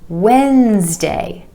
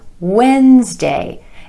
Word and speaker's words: Wednesday: word when as day this word again is only two syllables Wednesday Wednesday emphasis on the add sound in the first syllable Wednesday I know this can